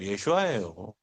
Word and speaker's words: 예슈아: 정확하게 해야 돼요. 예슈아예요. 예슈아예요. 예슈아. 어설프게 발음했다가 다른 신을 부르는 이름이 될 수 있어요.